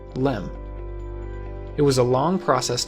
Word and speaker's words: LEM: Excursion module or just Lem eventually the word Excursion was dropped from the acronym but everyone still pronounced it the same Lem it was a long